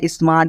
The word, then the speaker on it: smart: ठीक है, देखिए यहाँ पे क्या लिखा है स्मार्ट, SMART क्या स्मार्ट दोस्तों, इससे क्या दोस्तों 100 हो गया 10, और एम से क्या दोस्तों म हो गया दोस्तों, और ए से हो गया आ की मात्रा, और टी से हो गया दोस्तों ट हो गया। ठीक है, यानी आर को हम छोड़ देंगे। ठीक है, तो क्या पढ़ना स्मार्ट है, इस तरह आप लोग पढ़ेगा।